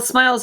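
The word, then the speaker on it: smial: Well, smiles are the names of the regions.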